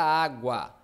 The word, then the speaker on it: água: Água. Água. Tem o som do U e tem o som do A. Isso é ditongo.